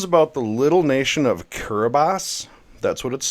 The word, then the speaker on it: Kiribati: This is about the little nation of Kiribati. That's how it's pronounced.